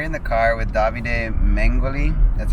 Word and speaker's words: Mengoli: We're in the car with Davide Mengoli. That's how you say it, right? Hi, yes, Mengoli.